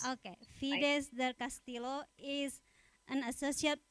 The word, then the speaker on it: Fides: apology for mispronouncing your name how should I pronounce your name uh yeah that's correct that's fedes okay fides del Castillo is an associate professor in the